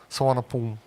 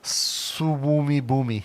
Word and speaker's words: Suvarnabhumi: Suvarnabhumi. Or if you pronounce it as it's spelled, Suwumi Boomi. No.